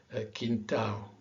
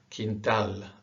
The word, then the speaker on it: quintal: Because the tendency for an English speaker is to really pronounce the L, quintal, legal, Brazil, sol.